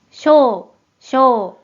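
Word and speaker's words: 賞: 일본어 발음 확인해 볼게요 먼저 뜻으로는 발음이 없고 음으로만 쇼쇼라고 길게 발음해줘요 그럼 먼저이 한자의 음도어위를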